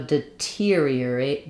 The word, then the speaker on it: deteriorate: my a all right so deteriorate deterioration um we have secondary stress here on this tier syllable so we have a clear ear vowel and we use an aspirated T rather than a flap deterior um it's like the word interior or exterior um so that terior